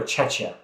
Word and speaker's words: Czechia: Is it Czechia or Czechia? Czechia. Oh. Yeah, okay. it's pronounced.